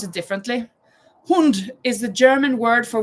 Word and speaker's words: Hund: Hund. But I I pronounce it differently. Hund is the German word for which animal? H U N D. Dog. Sam, you're right. Hund. In Norwegian, we say hun.